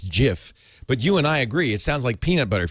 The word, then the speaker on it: GIF: like that debate over whether you pronounce the the graphics file format gif as GIF or gif there's no I mean there's a right answer I guess because the guy who invented it says it's Jiff but you and I